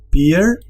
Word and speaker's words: peer: Esto es una sola sílaba. Nosotros en español fácilmente podríamos dividirlo aquí, pero no. En holandés esto es un solo sonido, peer.